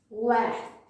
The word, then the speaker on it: vert: Green is vert, Wath.